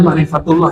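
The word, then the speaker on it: معرفة الله: Ma'rifatullah atau ma'rifat Allah, bacanya ma'rifatullah ya, bahasa Arabnya ini.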